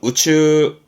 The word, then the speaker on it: 宇宙: 발음은 우추, 우추.